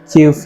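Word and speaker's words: queue: ये वर्ड को थोड़ा सा ध्यान से देखिए, स्पेलिंग है क्यू यू ई यू ई, लेकिन सिर्फ क्यू पढ़ा जाता है, बाकी सब कुछ साइलेंट है इसमें।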